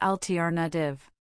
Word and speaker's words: alternative: The pronunciation of alternative might be tricky. It's pronounced altar native.